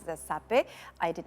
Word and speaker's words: sape: I did not know the name you pronounce it as sape.